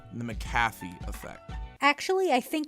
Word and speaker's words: McAfee: This happened on like day 3, and this is what we'll call the McAfee effect. Actually, I think it's pronounced McAfee. But there's no Mac in it, just a muck.